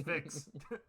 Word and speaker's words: Vix: It's spelled with an I. Yes. It's Vix. Like the vapor rub.